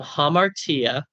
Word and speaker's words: hamartia: So it's from hamartia. Hamartia. Hamartia. Not har. Hamartia.